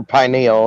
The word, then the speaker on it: pineal: in her calcium calcified penal gland there you go or pineal it depends on how you want to pronounce it and make uh